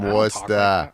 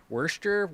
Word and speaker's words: Worcester: i don't have the from worcester i don't have the accent wurster worked all right i it